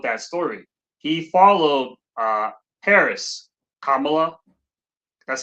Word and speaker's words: Kamala: He followed Harris, Kamala. That's how you say her name, right? Kamala.